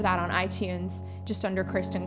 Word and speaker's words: Christen: You can remember my first name like Chris, and then the number 10, and that's how it's spelled. And I've got a MySpace as well, which is Christen Music.